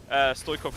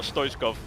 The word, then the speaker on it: Stoikov: that he did see Stoikov come his way. Bullets are saying it's pronounced Stoikov, not Stoichkov.